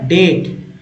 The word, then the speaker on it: debt: डर, lander and द डेट। अब डेट पढ़ेंगे, DEBT को डेट पढ़ेंगे, क्या पढ़ेंगे डेट, जहाँ बी साइलेंट है, बी क्या है साइलेंट है, डेट।